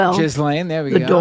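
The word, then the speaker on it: Ghislaine: says she was instructed to Jizen Maxwell. Jislane.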